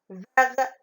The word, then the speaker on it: vert: Vert. On ne dit pas verte. Si l'adjectif est masculin, on ne dit pas verte, on dit vert. Donc, ici, la lettre muette, c'est T. D'accord?